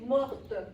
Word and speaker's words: morte: Mort. On ne prononce pas le T. On va le prononcer seulement quand on va utiliser le féminin. Exemple, elle est morte. Elle est morte en 1800 quelque chose. Si c'est le féminin, oui, on va le prononcer, le T. Sinon, masculin, on ne le prononce pas.